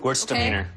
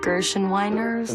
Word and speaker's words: Gewürztraminer: I don't know how to pronounce it. Gewürztraminer. Thank you. Gewürztraminer. Gerstenweiners.